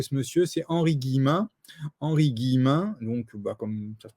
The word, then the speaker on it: Henri Guillemin: vous voulez retrouver ce monsieur c'est henri guillemin henri guillemin donc bah comme ça se prononce et vous trouvez sur youtube vous tapez